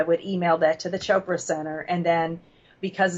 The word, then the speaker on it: Chopra: been I guess I've been mispronouncing it so it's Chopra chopr Chopra okay so and in primordial